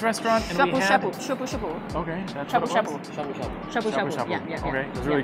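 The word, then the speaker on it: shabu-shabu: Shabu Shabu. Yeah. Okay. It was really good. The right pronunciation.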